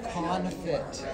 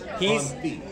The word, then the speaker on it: confit: It's pronounced confit. Oh, yeah. Fiasco's saying it's confit. Is he saying confit? It's confit. Confit. Yeah. Oh, confit. The T is silent.